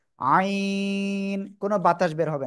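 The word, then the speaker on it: عين: থেকে উচ্চারণ হয় জানেন গলার মধ্যখান থেকে চার আলিফ টানে উচ্চারণ করতে হবে আইন কোন বাতাস বের হবে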